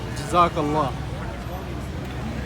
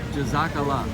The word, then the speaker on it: Jazakallah: So to say thank you in Arabic is Jazakallah. Jazakallah.